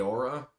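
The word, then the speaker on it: Eora: world of I think pronouncing it rightly correctly uh aora if I'm gonna pronounce it e-o-r-a I'm getting that right and I [ __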